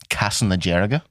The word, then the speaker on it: Castlederg: Like, A lot of the people from my hometown shout out Castlederg, Castlanajerga. That's how they say it.